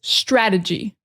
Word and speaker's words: strategy: The next one is strategy. Another example of how the T sounds more like a D. A lot of times, strategy. So the emphasis really is on the first syllable.